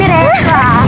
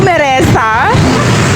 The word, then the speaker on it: Meresa: Kami ni Mesa. Mera. Uy anong Meresa? Kahit sa to pronounce ng pangalan ko. Meresa. Meresa. Ilang oras tayong nagsimula kanina be?